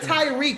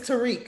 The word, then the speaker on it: Tariq: First of all, you said Tyreek. His name is Tariq.